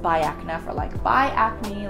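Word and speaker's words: Biacna: called by AK nap I've been calling this Bianca for the longest time but my dermatologist corrected me I said it's pronounced by AK enough or liked by acne like goodbye good friends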